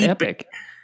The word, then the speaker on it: Epoch: I mean, I think epoch is right, Epoch. But I think epic might also be okay.